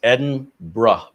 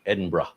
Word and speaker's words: Edinburgh: 14.4 Celsius there in Edinburgh, Scotland. Now, is it Edinburg Edinburgh or Edinburg? I've heard it both ways. According to Wikipedia, it's Edinra. B R Uh, Edinra.